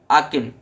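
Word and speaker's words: Aachen: का प्रोनाउंसिएशन याद रखना, आकिन, ठीक है।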